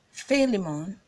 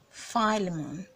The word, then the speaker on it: Philemon: to say that yeah to acceptable ways of calling this name so you can either say Philemon Philemon or Philemon Philemon both ways of columns now made acceptable so whichever one you're